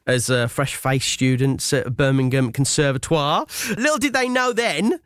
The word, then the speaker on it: Conservatoire: Conservatoire?